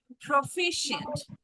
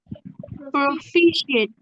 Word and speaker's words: proficient: try to say together proficient proficient yes Prof yes Prof yes not pro right yes p and shint